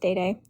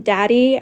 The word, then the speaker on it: Day Day: Thanks, Day Day. Am I saying that right? Yeah. Yeah, it's pronounced Day Day. I've gotten a lot of different things. I've gotten Daddy, I've gotten Daydree, I've gotten Today, I've gotten what else have I gotten?